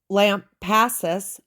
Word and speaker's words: Lampasas: So the Lampasas River, that is how you pronounce it.